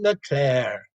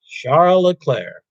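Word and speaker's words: Charles Leclerc: his name is charles the s is silent look at claire the c is silent leclair and it's a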